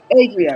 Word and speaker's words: Adria: her name Adria am I say am I pronouncing her name right Adria Adria right so Adria she was confusing me for